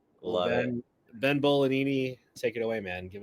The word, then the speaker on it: Bolognini: Yeah, no, so it is Italian. There's no G pronounced, but it's Bolognini. Love it. Ben Bolognini, take it away, man.